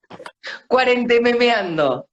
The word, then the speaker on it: Cuarentememeando: Cuarentememeando.